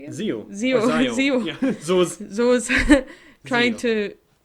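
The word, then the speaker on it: Xio: would want the subplot to focus more on Zo's... I don't like that. How do you say it again? Zeo.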